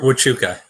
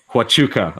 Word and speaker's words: Huachuca: know how to pronounce this for who you pronounce it co you don't want to wrote this Oh Fort Huachuca Huachuca okay you know in southern Arizona yes and